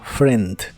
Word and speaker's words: friend: significan mi amigo David en la palabra friend no se pronuncia la i solo friend my friend David my